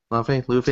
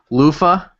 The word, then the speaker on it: Luffy: Yeah, Luffy. Say it right. Lufa.